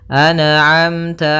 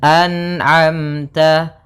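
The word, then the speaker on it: أنعمت: Maka hati-hati dalam melafalkan huruf atau bacaan anamta jangan sampai terpantulkan. Misalkan anamta alaihim anamta memantul huruf nunnya karena sifat nun tidak boleh mantul. Maka dibaca dengan anamta anamta.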